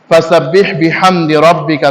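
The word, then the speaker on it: رَبِّكَ: না অনেকে ফাসাব্বিহ বিহামদি এরকম না বিহামদিহ বিহামদি রব্বিকা রাব্বিকা রাব্বিকা না রব্বিকা বিহামদিকাফির অনেকেই এইটাকে এমন ভাবে উচ্চারণ করেন কাফের এমন নাগফির আবার বিহামদিকাফির ইন্নাহু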